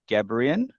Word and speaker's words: Gebrian: Our guest for today is Molly Gebrian. Is that how you say it? Is that how you It like to is, pronounce it?